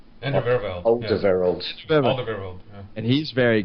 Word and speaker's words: Alderweireld: You guys have to correct me because I honestly don't know how to pronounce his name. Is it Ander Vervelde? Alderweireld.